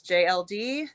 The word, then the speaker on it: Jay El Dee: Uh well I I am my name is JLD. That is um spelled out phonetically.